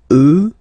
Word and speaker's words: eux: get the sound remember, final X not pronounced, and then plural elle. Okay, so let's see them one more time. Moi, toi, lui, elle, nous, vous, eux, elle.